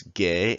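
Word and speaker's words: 개: dog or gay and it has the word G plus the a sound you combine them together it's gay and it means dog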